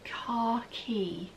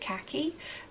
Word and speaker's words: khaki: and they were like, what is khaki, as in C-A-R-K-E-Y, what is that? And it was like, oh, and the lady that commented was American, and I believe you guys pronounce it khaki, and it's a much more tan colour for you, but for me, this is khaki green, and khaki green is the new thing.